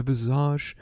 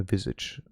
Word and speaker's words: visage: No mortal can look up upon my viz and not die of exaltation. My visage. I don't know why he keeps pronouncing it as viz.